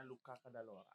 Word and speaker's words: Luca Cadalora: Luca Cadalora, dibacanya Luca Cadalora.